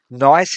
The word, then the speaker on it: gneiss: I don't know whether I'm saying that word properly. It's spelt Gneiss. I'm assuming that the G is silent.